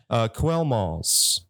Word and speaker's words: Quellmalz: Quellmalz. That's how you say it? Quellmalz, yeah. Quellmalz. That's kind of how it's spelled.